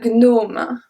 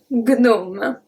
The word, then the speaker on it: gnome: The first one is un gnome.